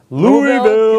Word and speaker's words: Louisville: make it to the USCCA Expo 2018 in Louisville. Kentucky. No, you said it wrong. See, I've been to Louisville, and you have to not pronounce as many Louisville. of the letters How's that? in Louisville, Louisville.